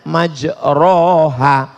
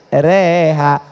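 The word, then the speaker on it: مجريها: email lah Bismillahirrohmanirrohim creehack tulisannya majroha Tapi bacanya miring Bismillahirrohmanirrohim reha namanya Imam Al mall-mall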